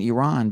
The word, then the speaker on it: Iran: with our players for pronouncing Iran as Iran now I always said Iran myself so now that I know that it's Iran I'll say Iran but here's the thing